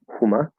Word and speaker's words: Hummer: I gave the example of Huma in German, which is spelled this, pronounced Huma.